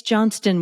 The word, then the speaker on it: Johnston: me to no end it's Johnston with a t like Johnson but just add a t in I say every single